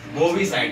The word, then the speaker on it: bovicide: उनकी हत्या कर देते हैं तो उसको हम बोलते हैं बोवीसाइड। क्या बोलते हैं? बोवीसाइड।